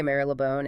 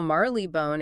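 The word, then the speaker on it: Marylebone: So the wrong way Maril Leone is now so overwhelmingly dominant that the historical Marley bone is well it's struggling to survive.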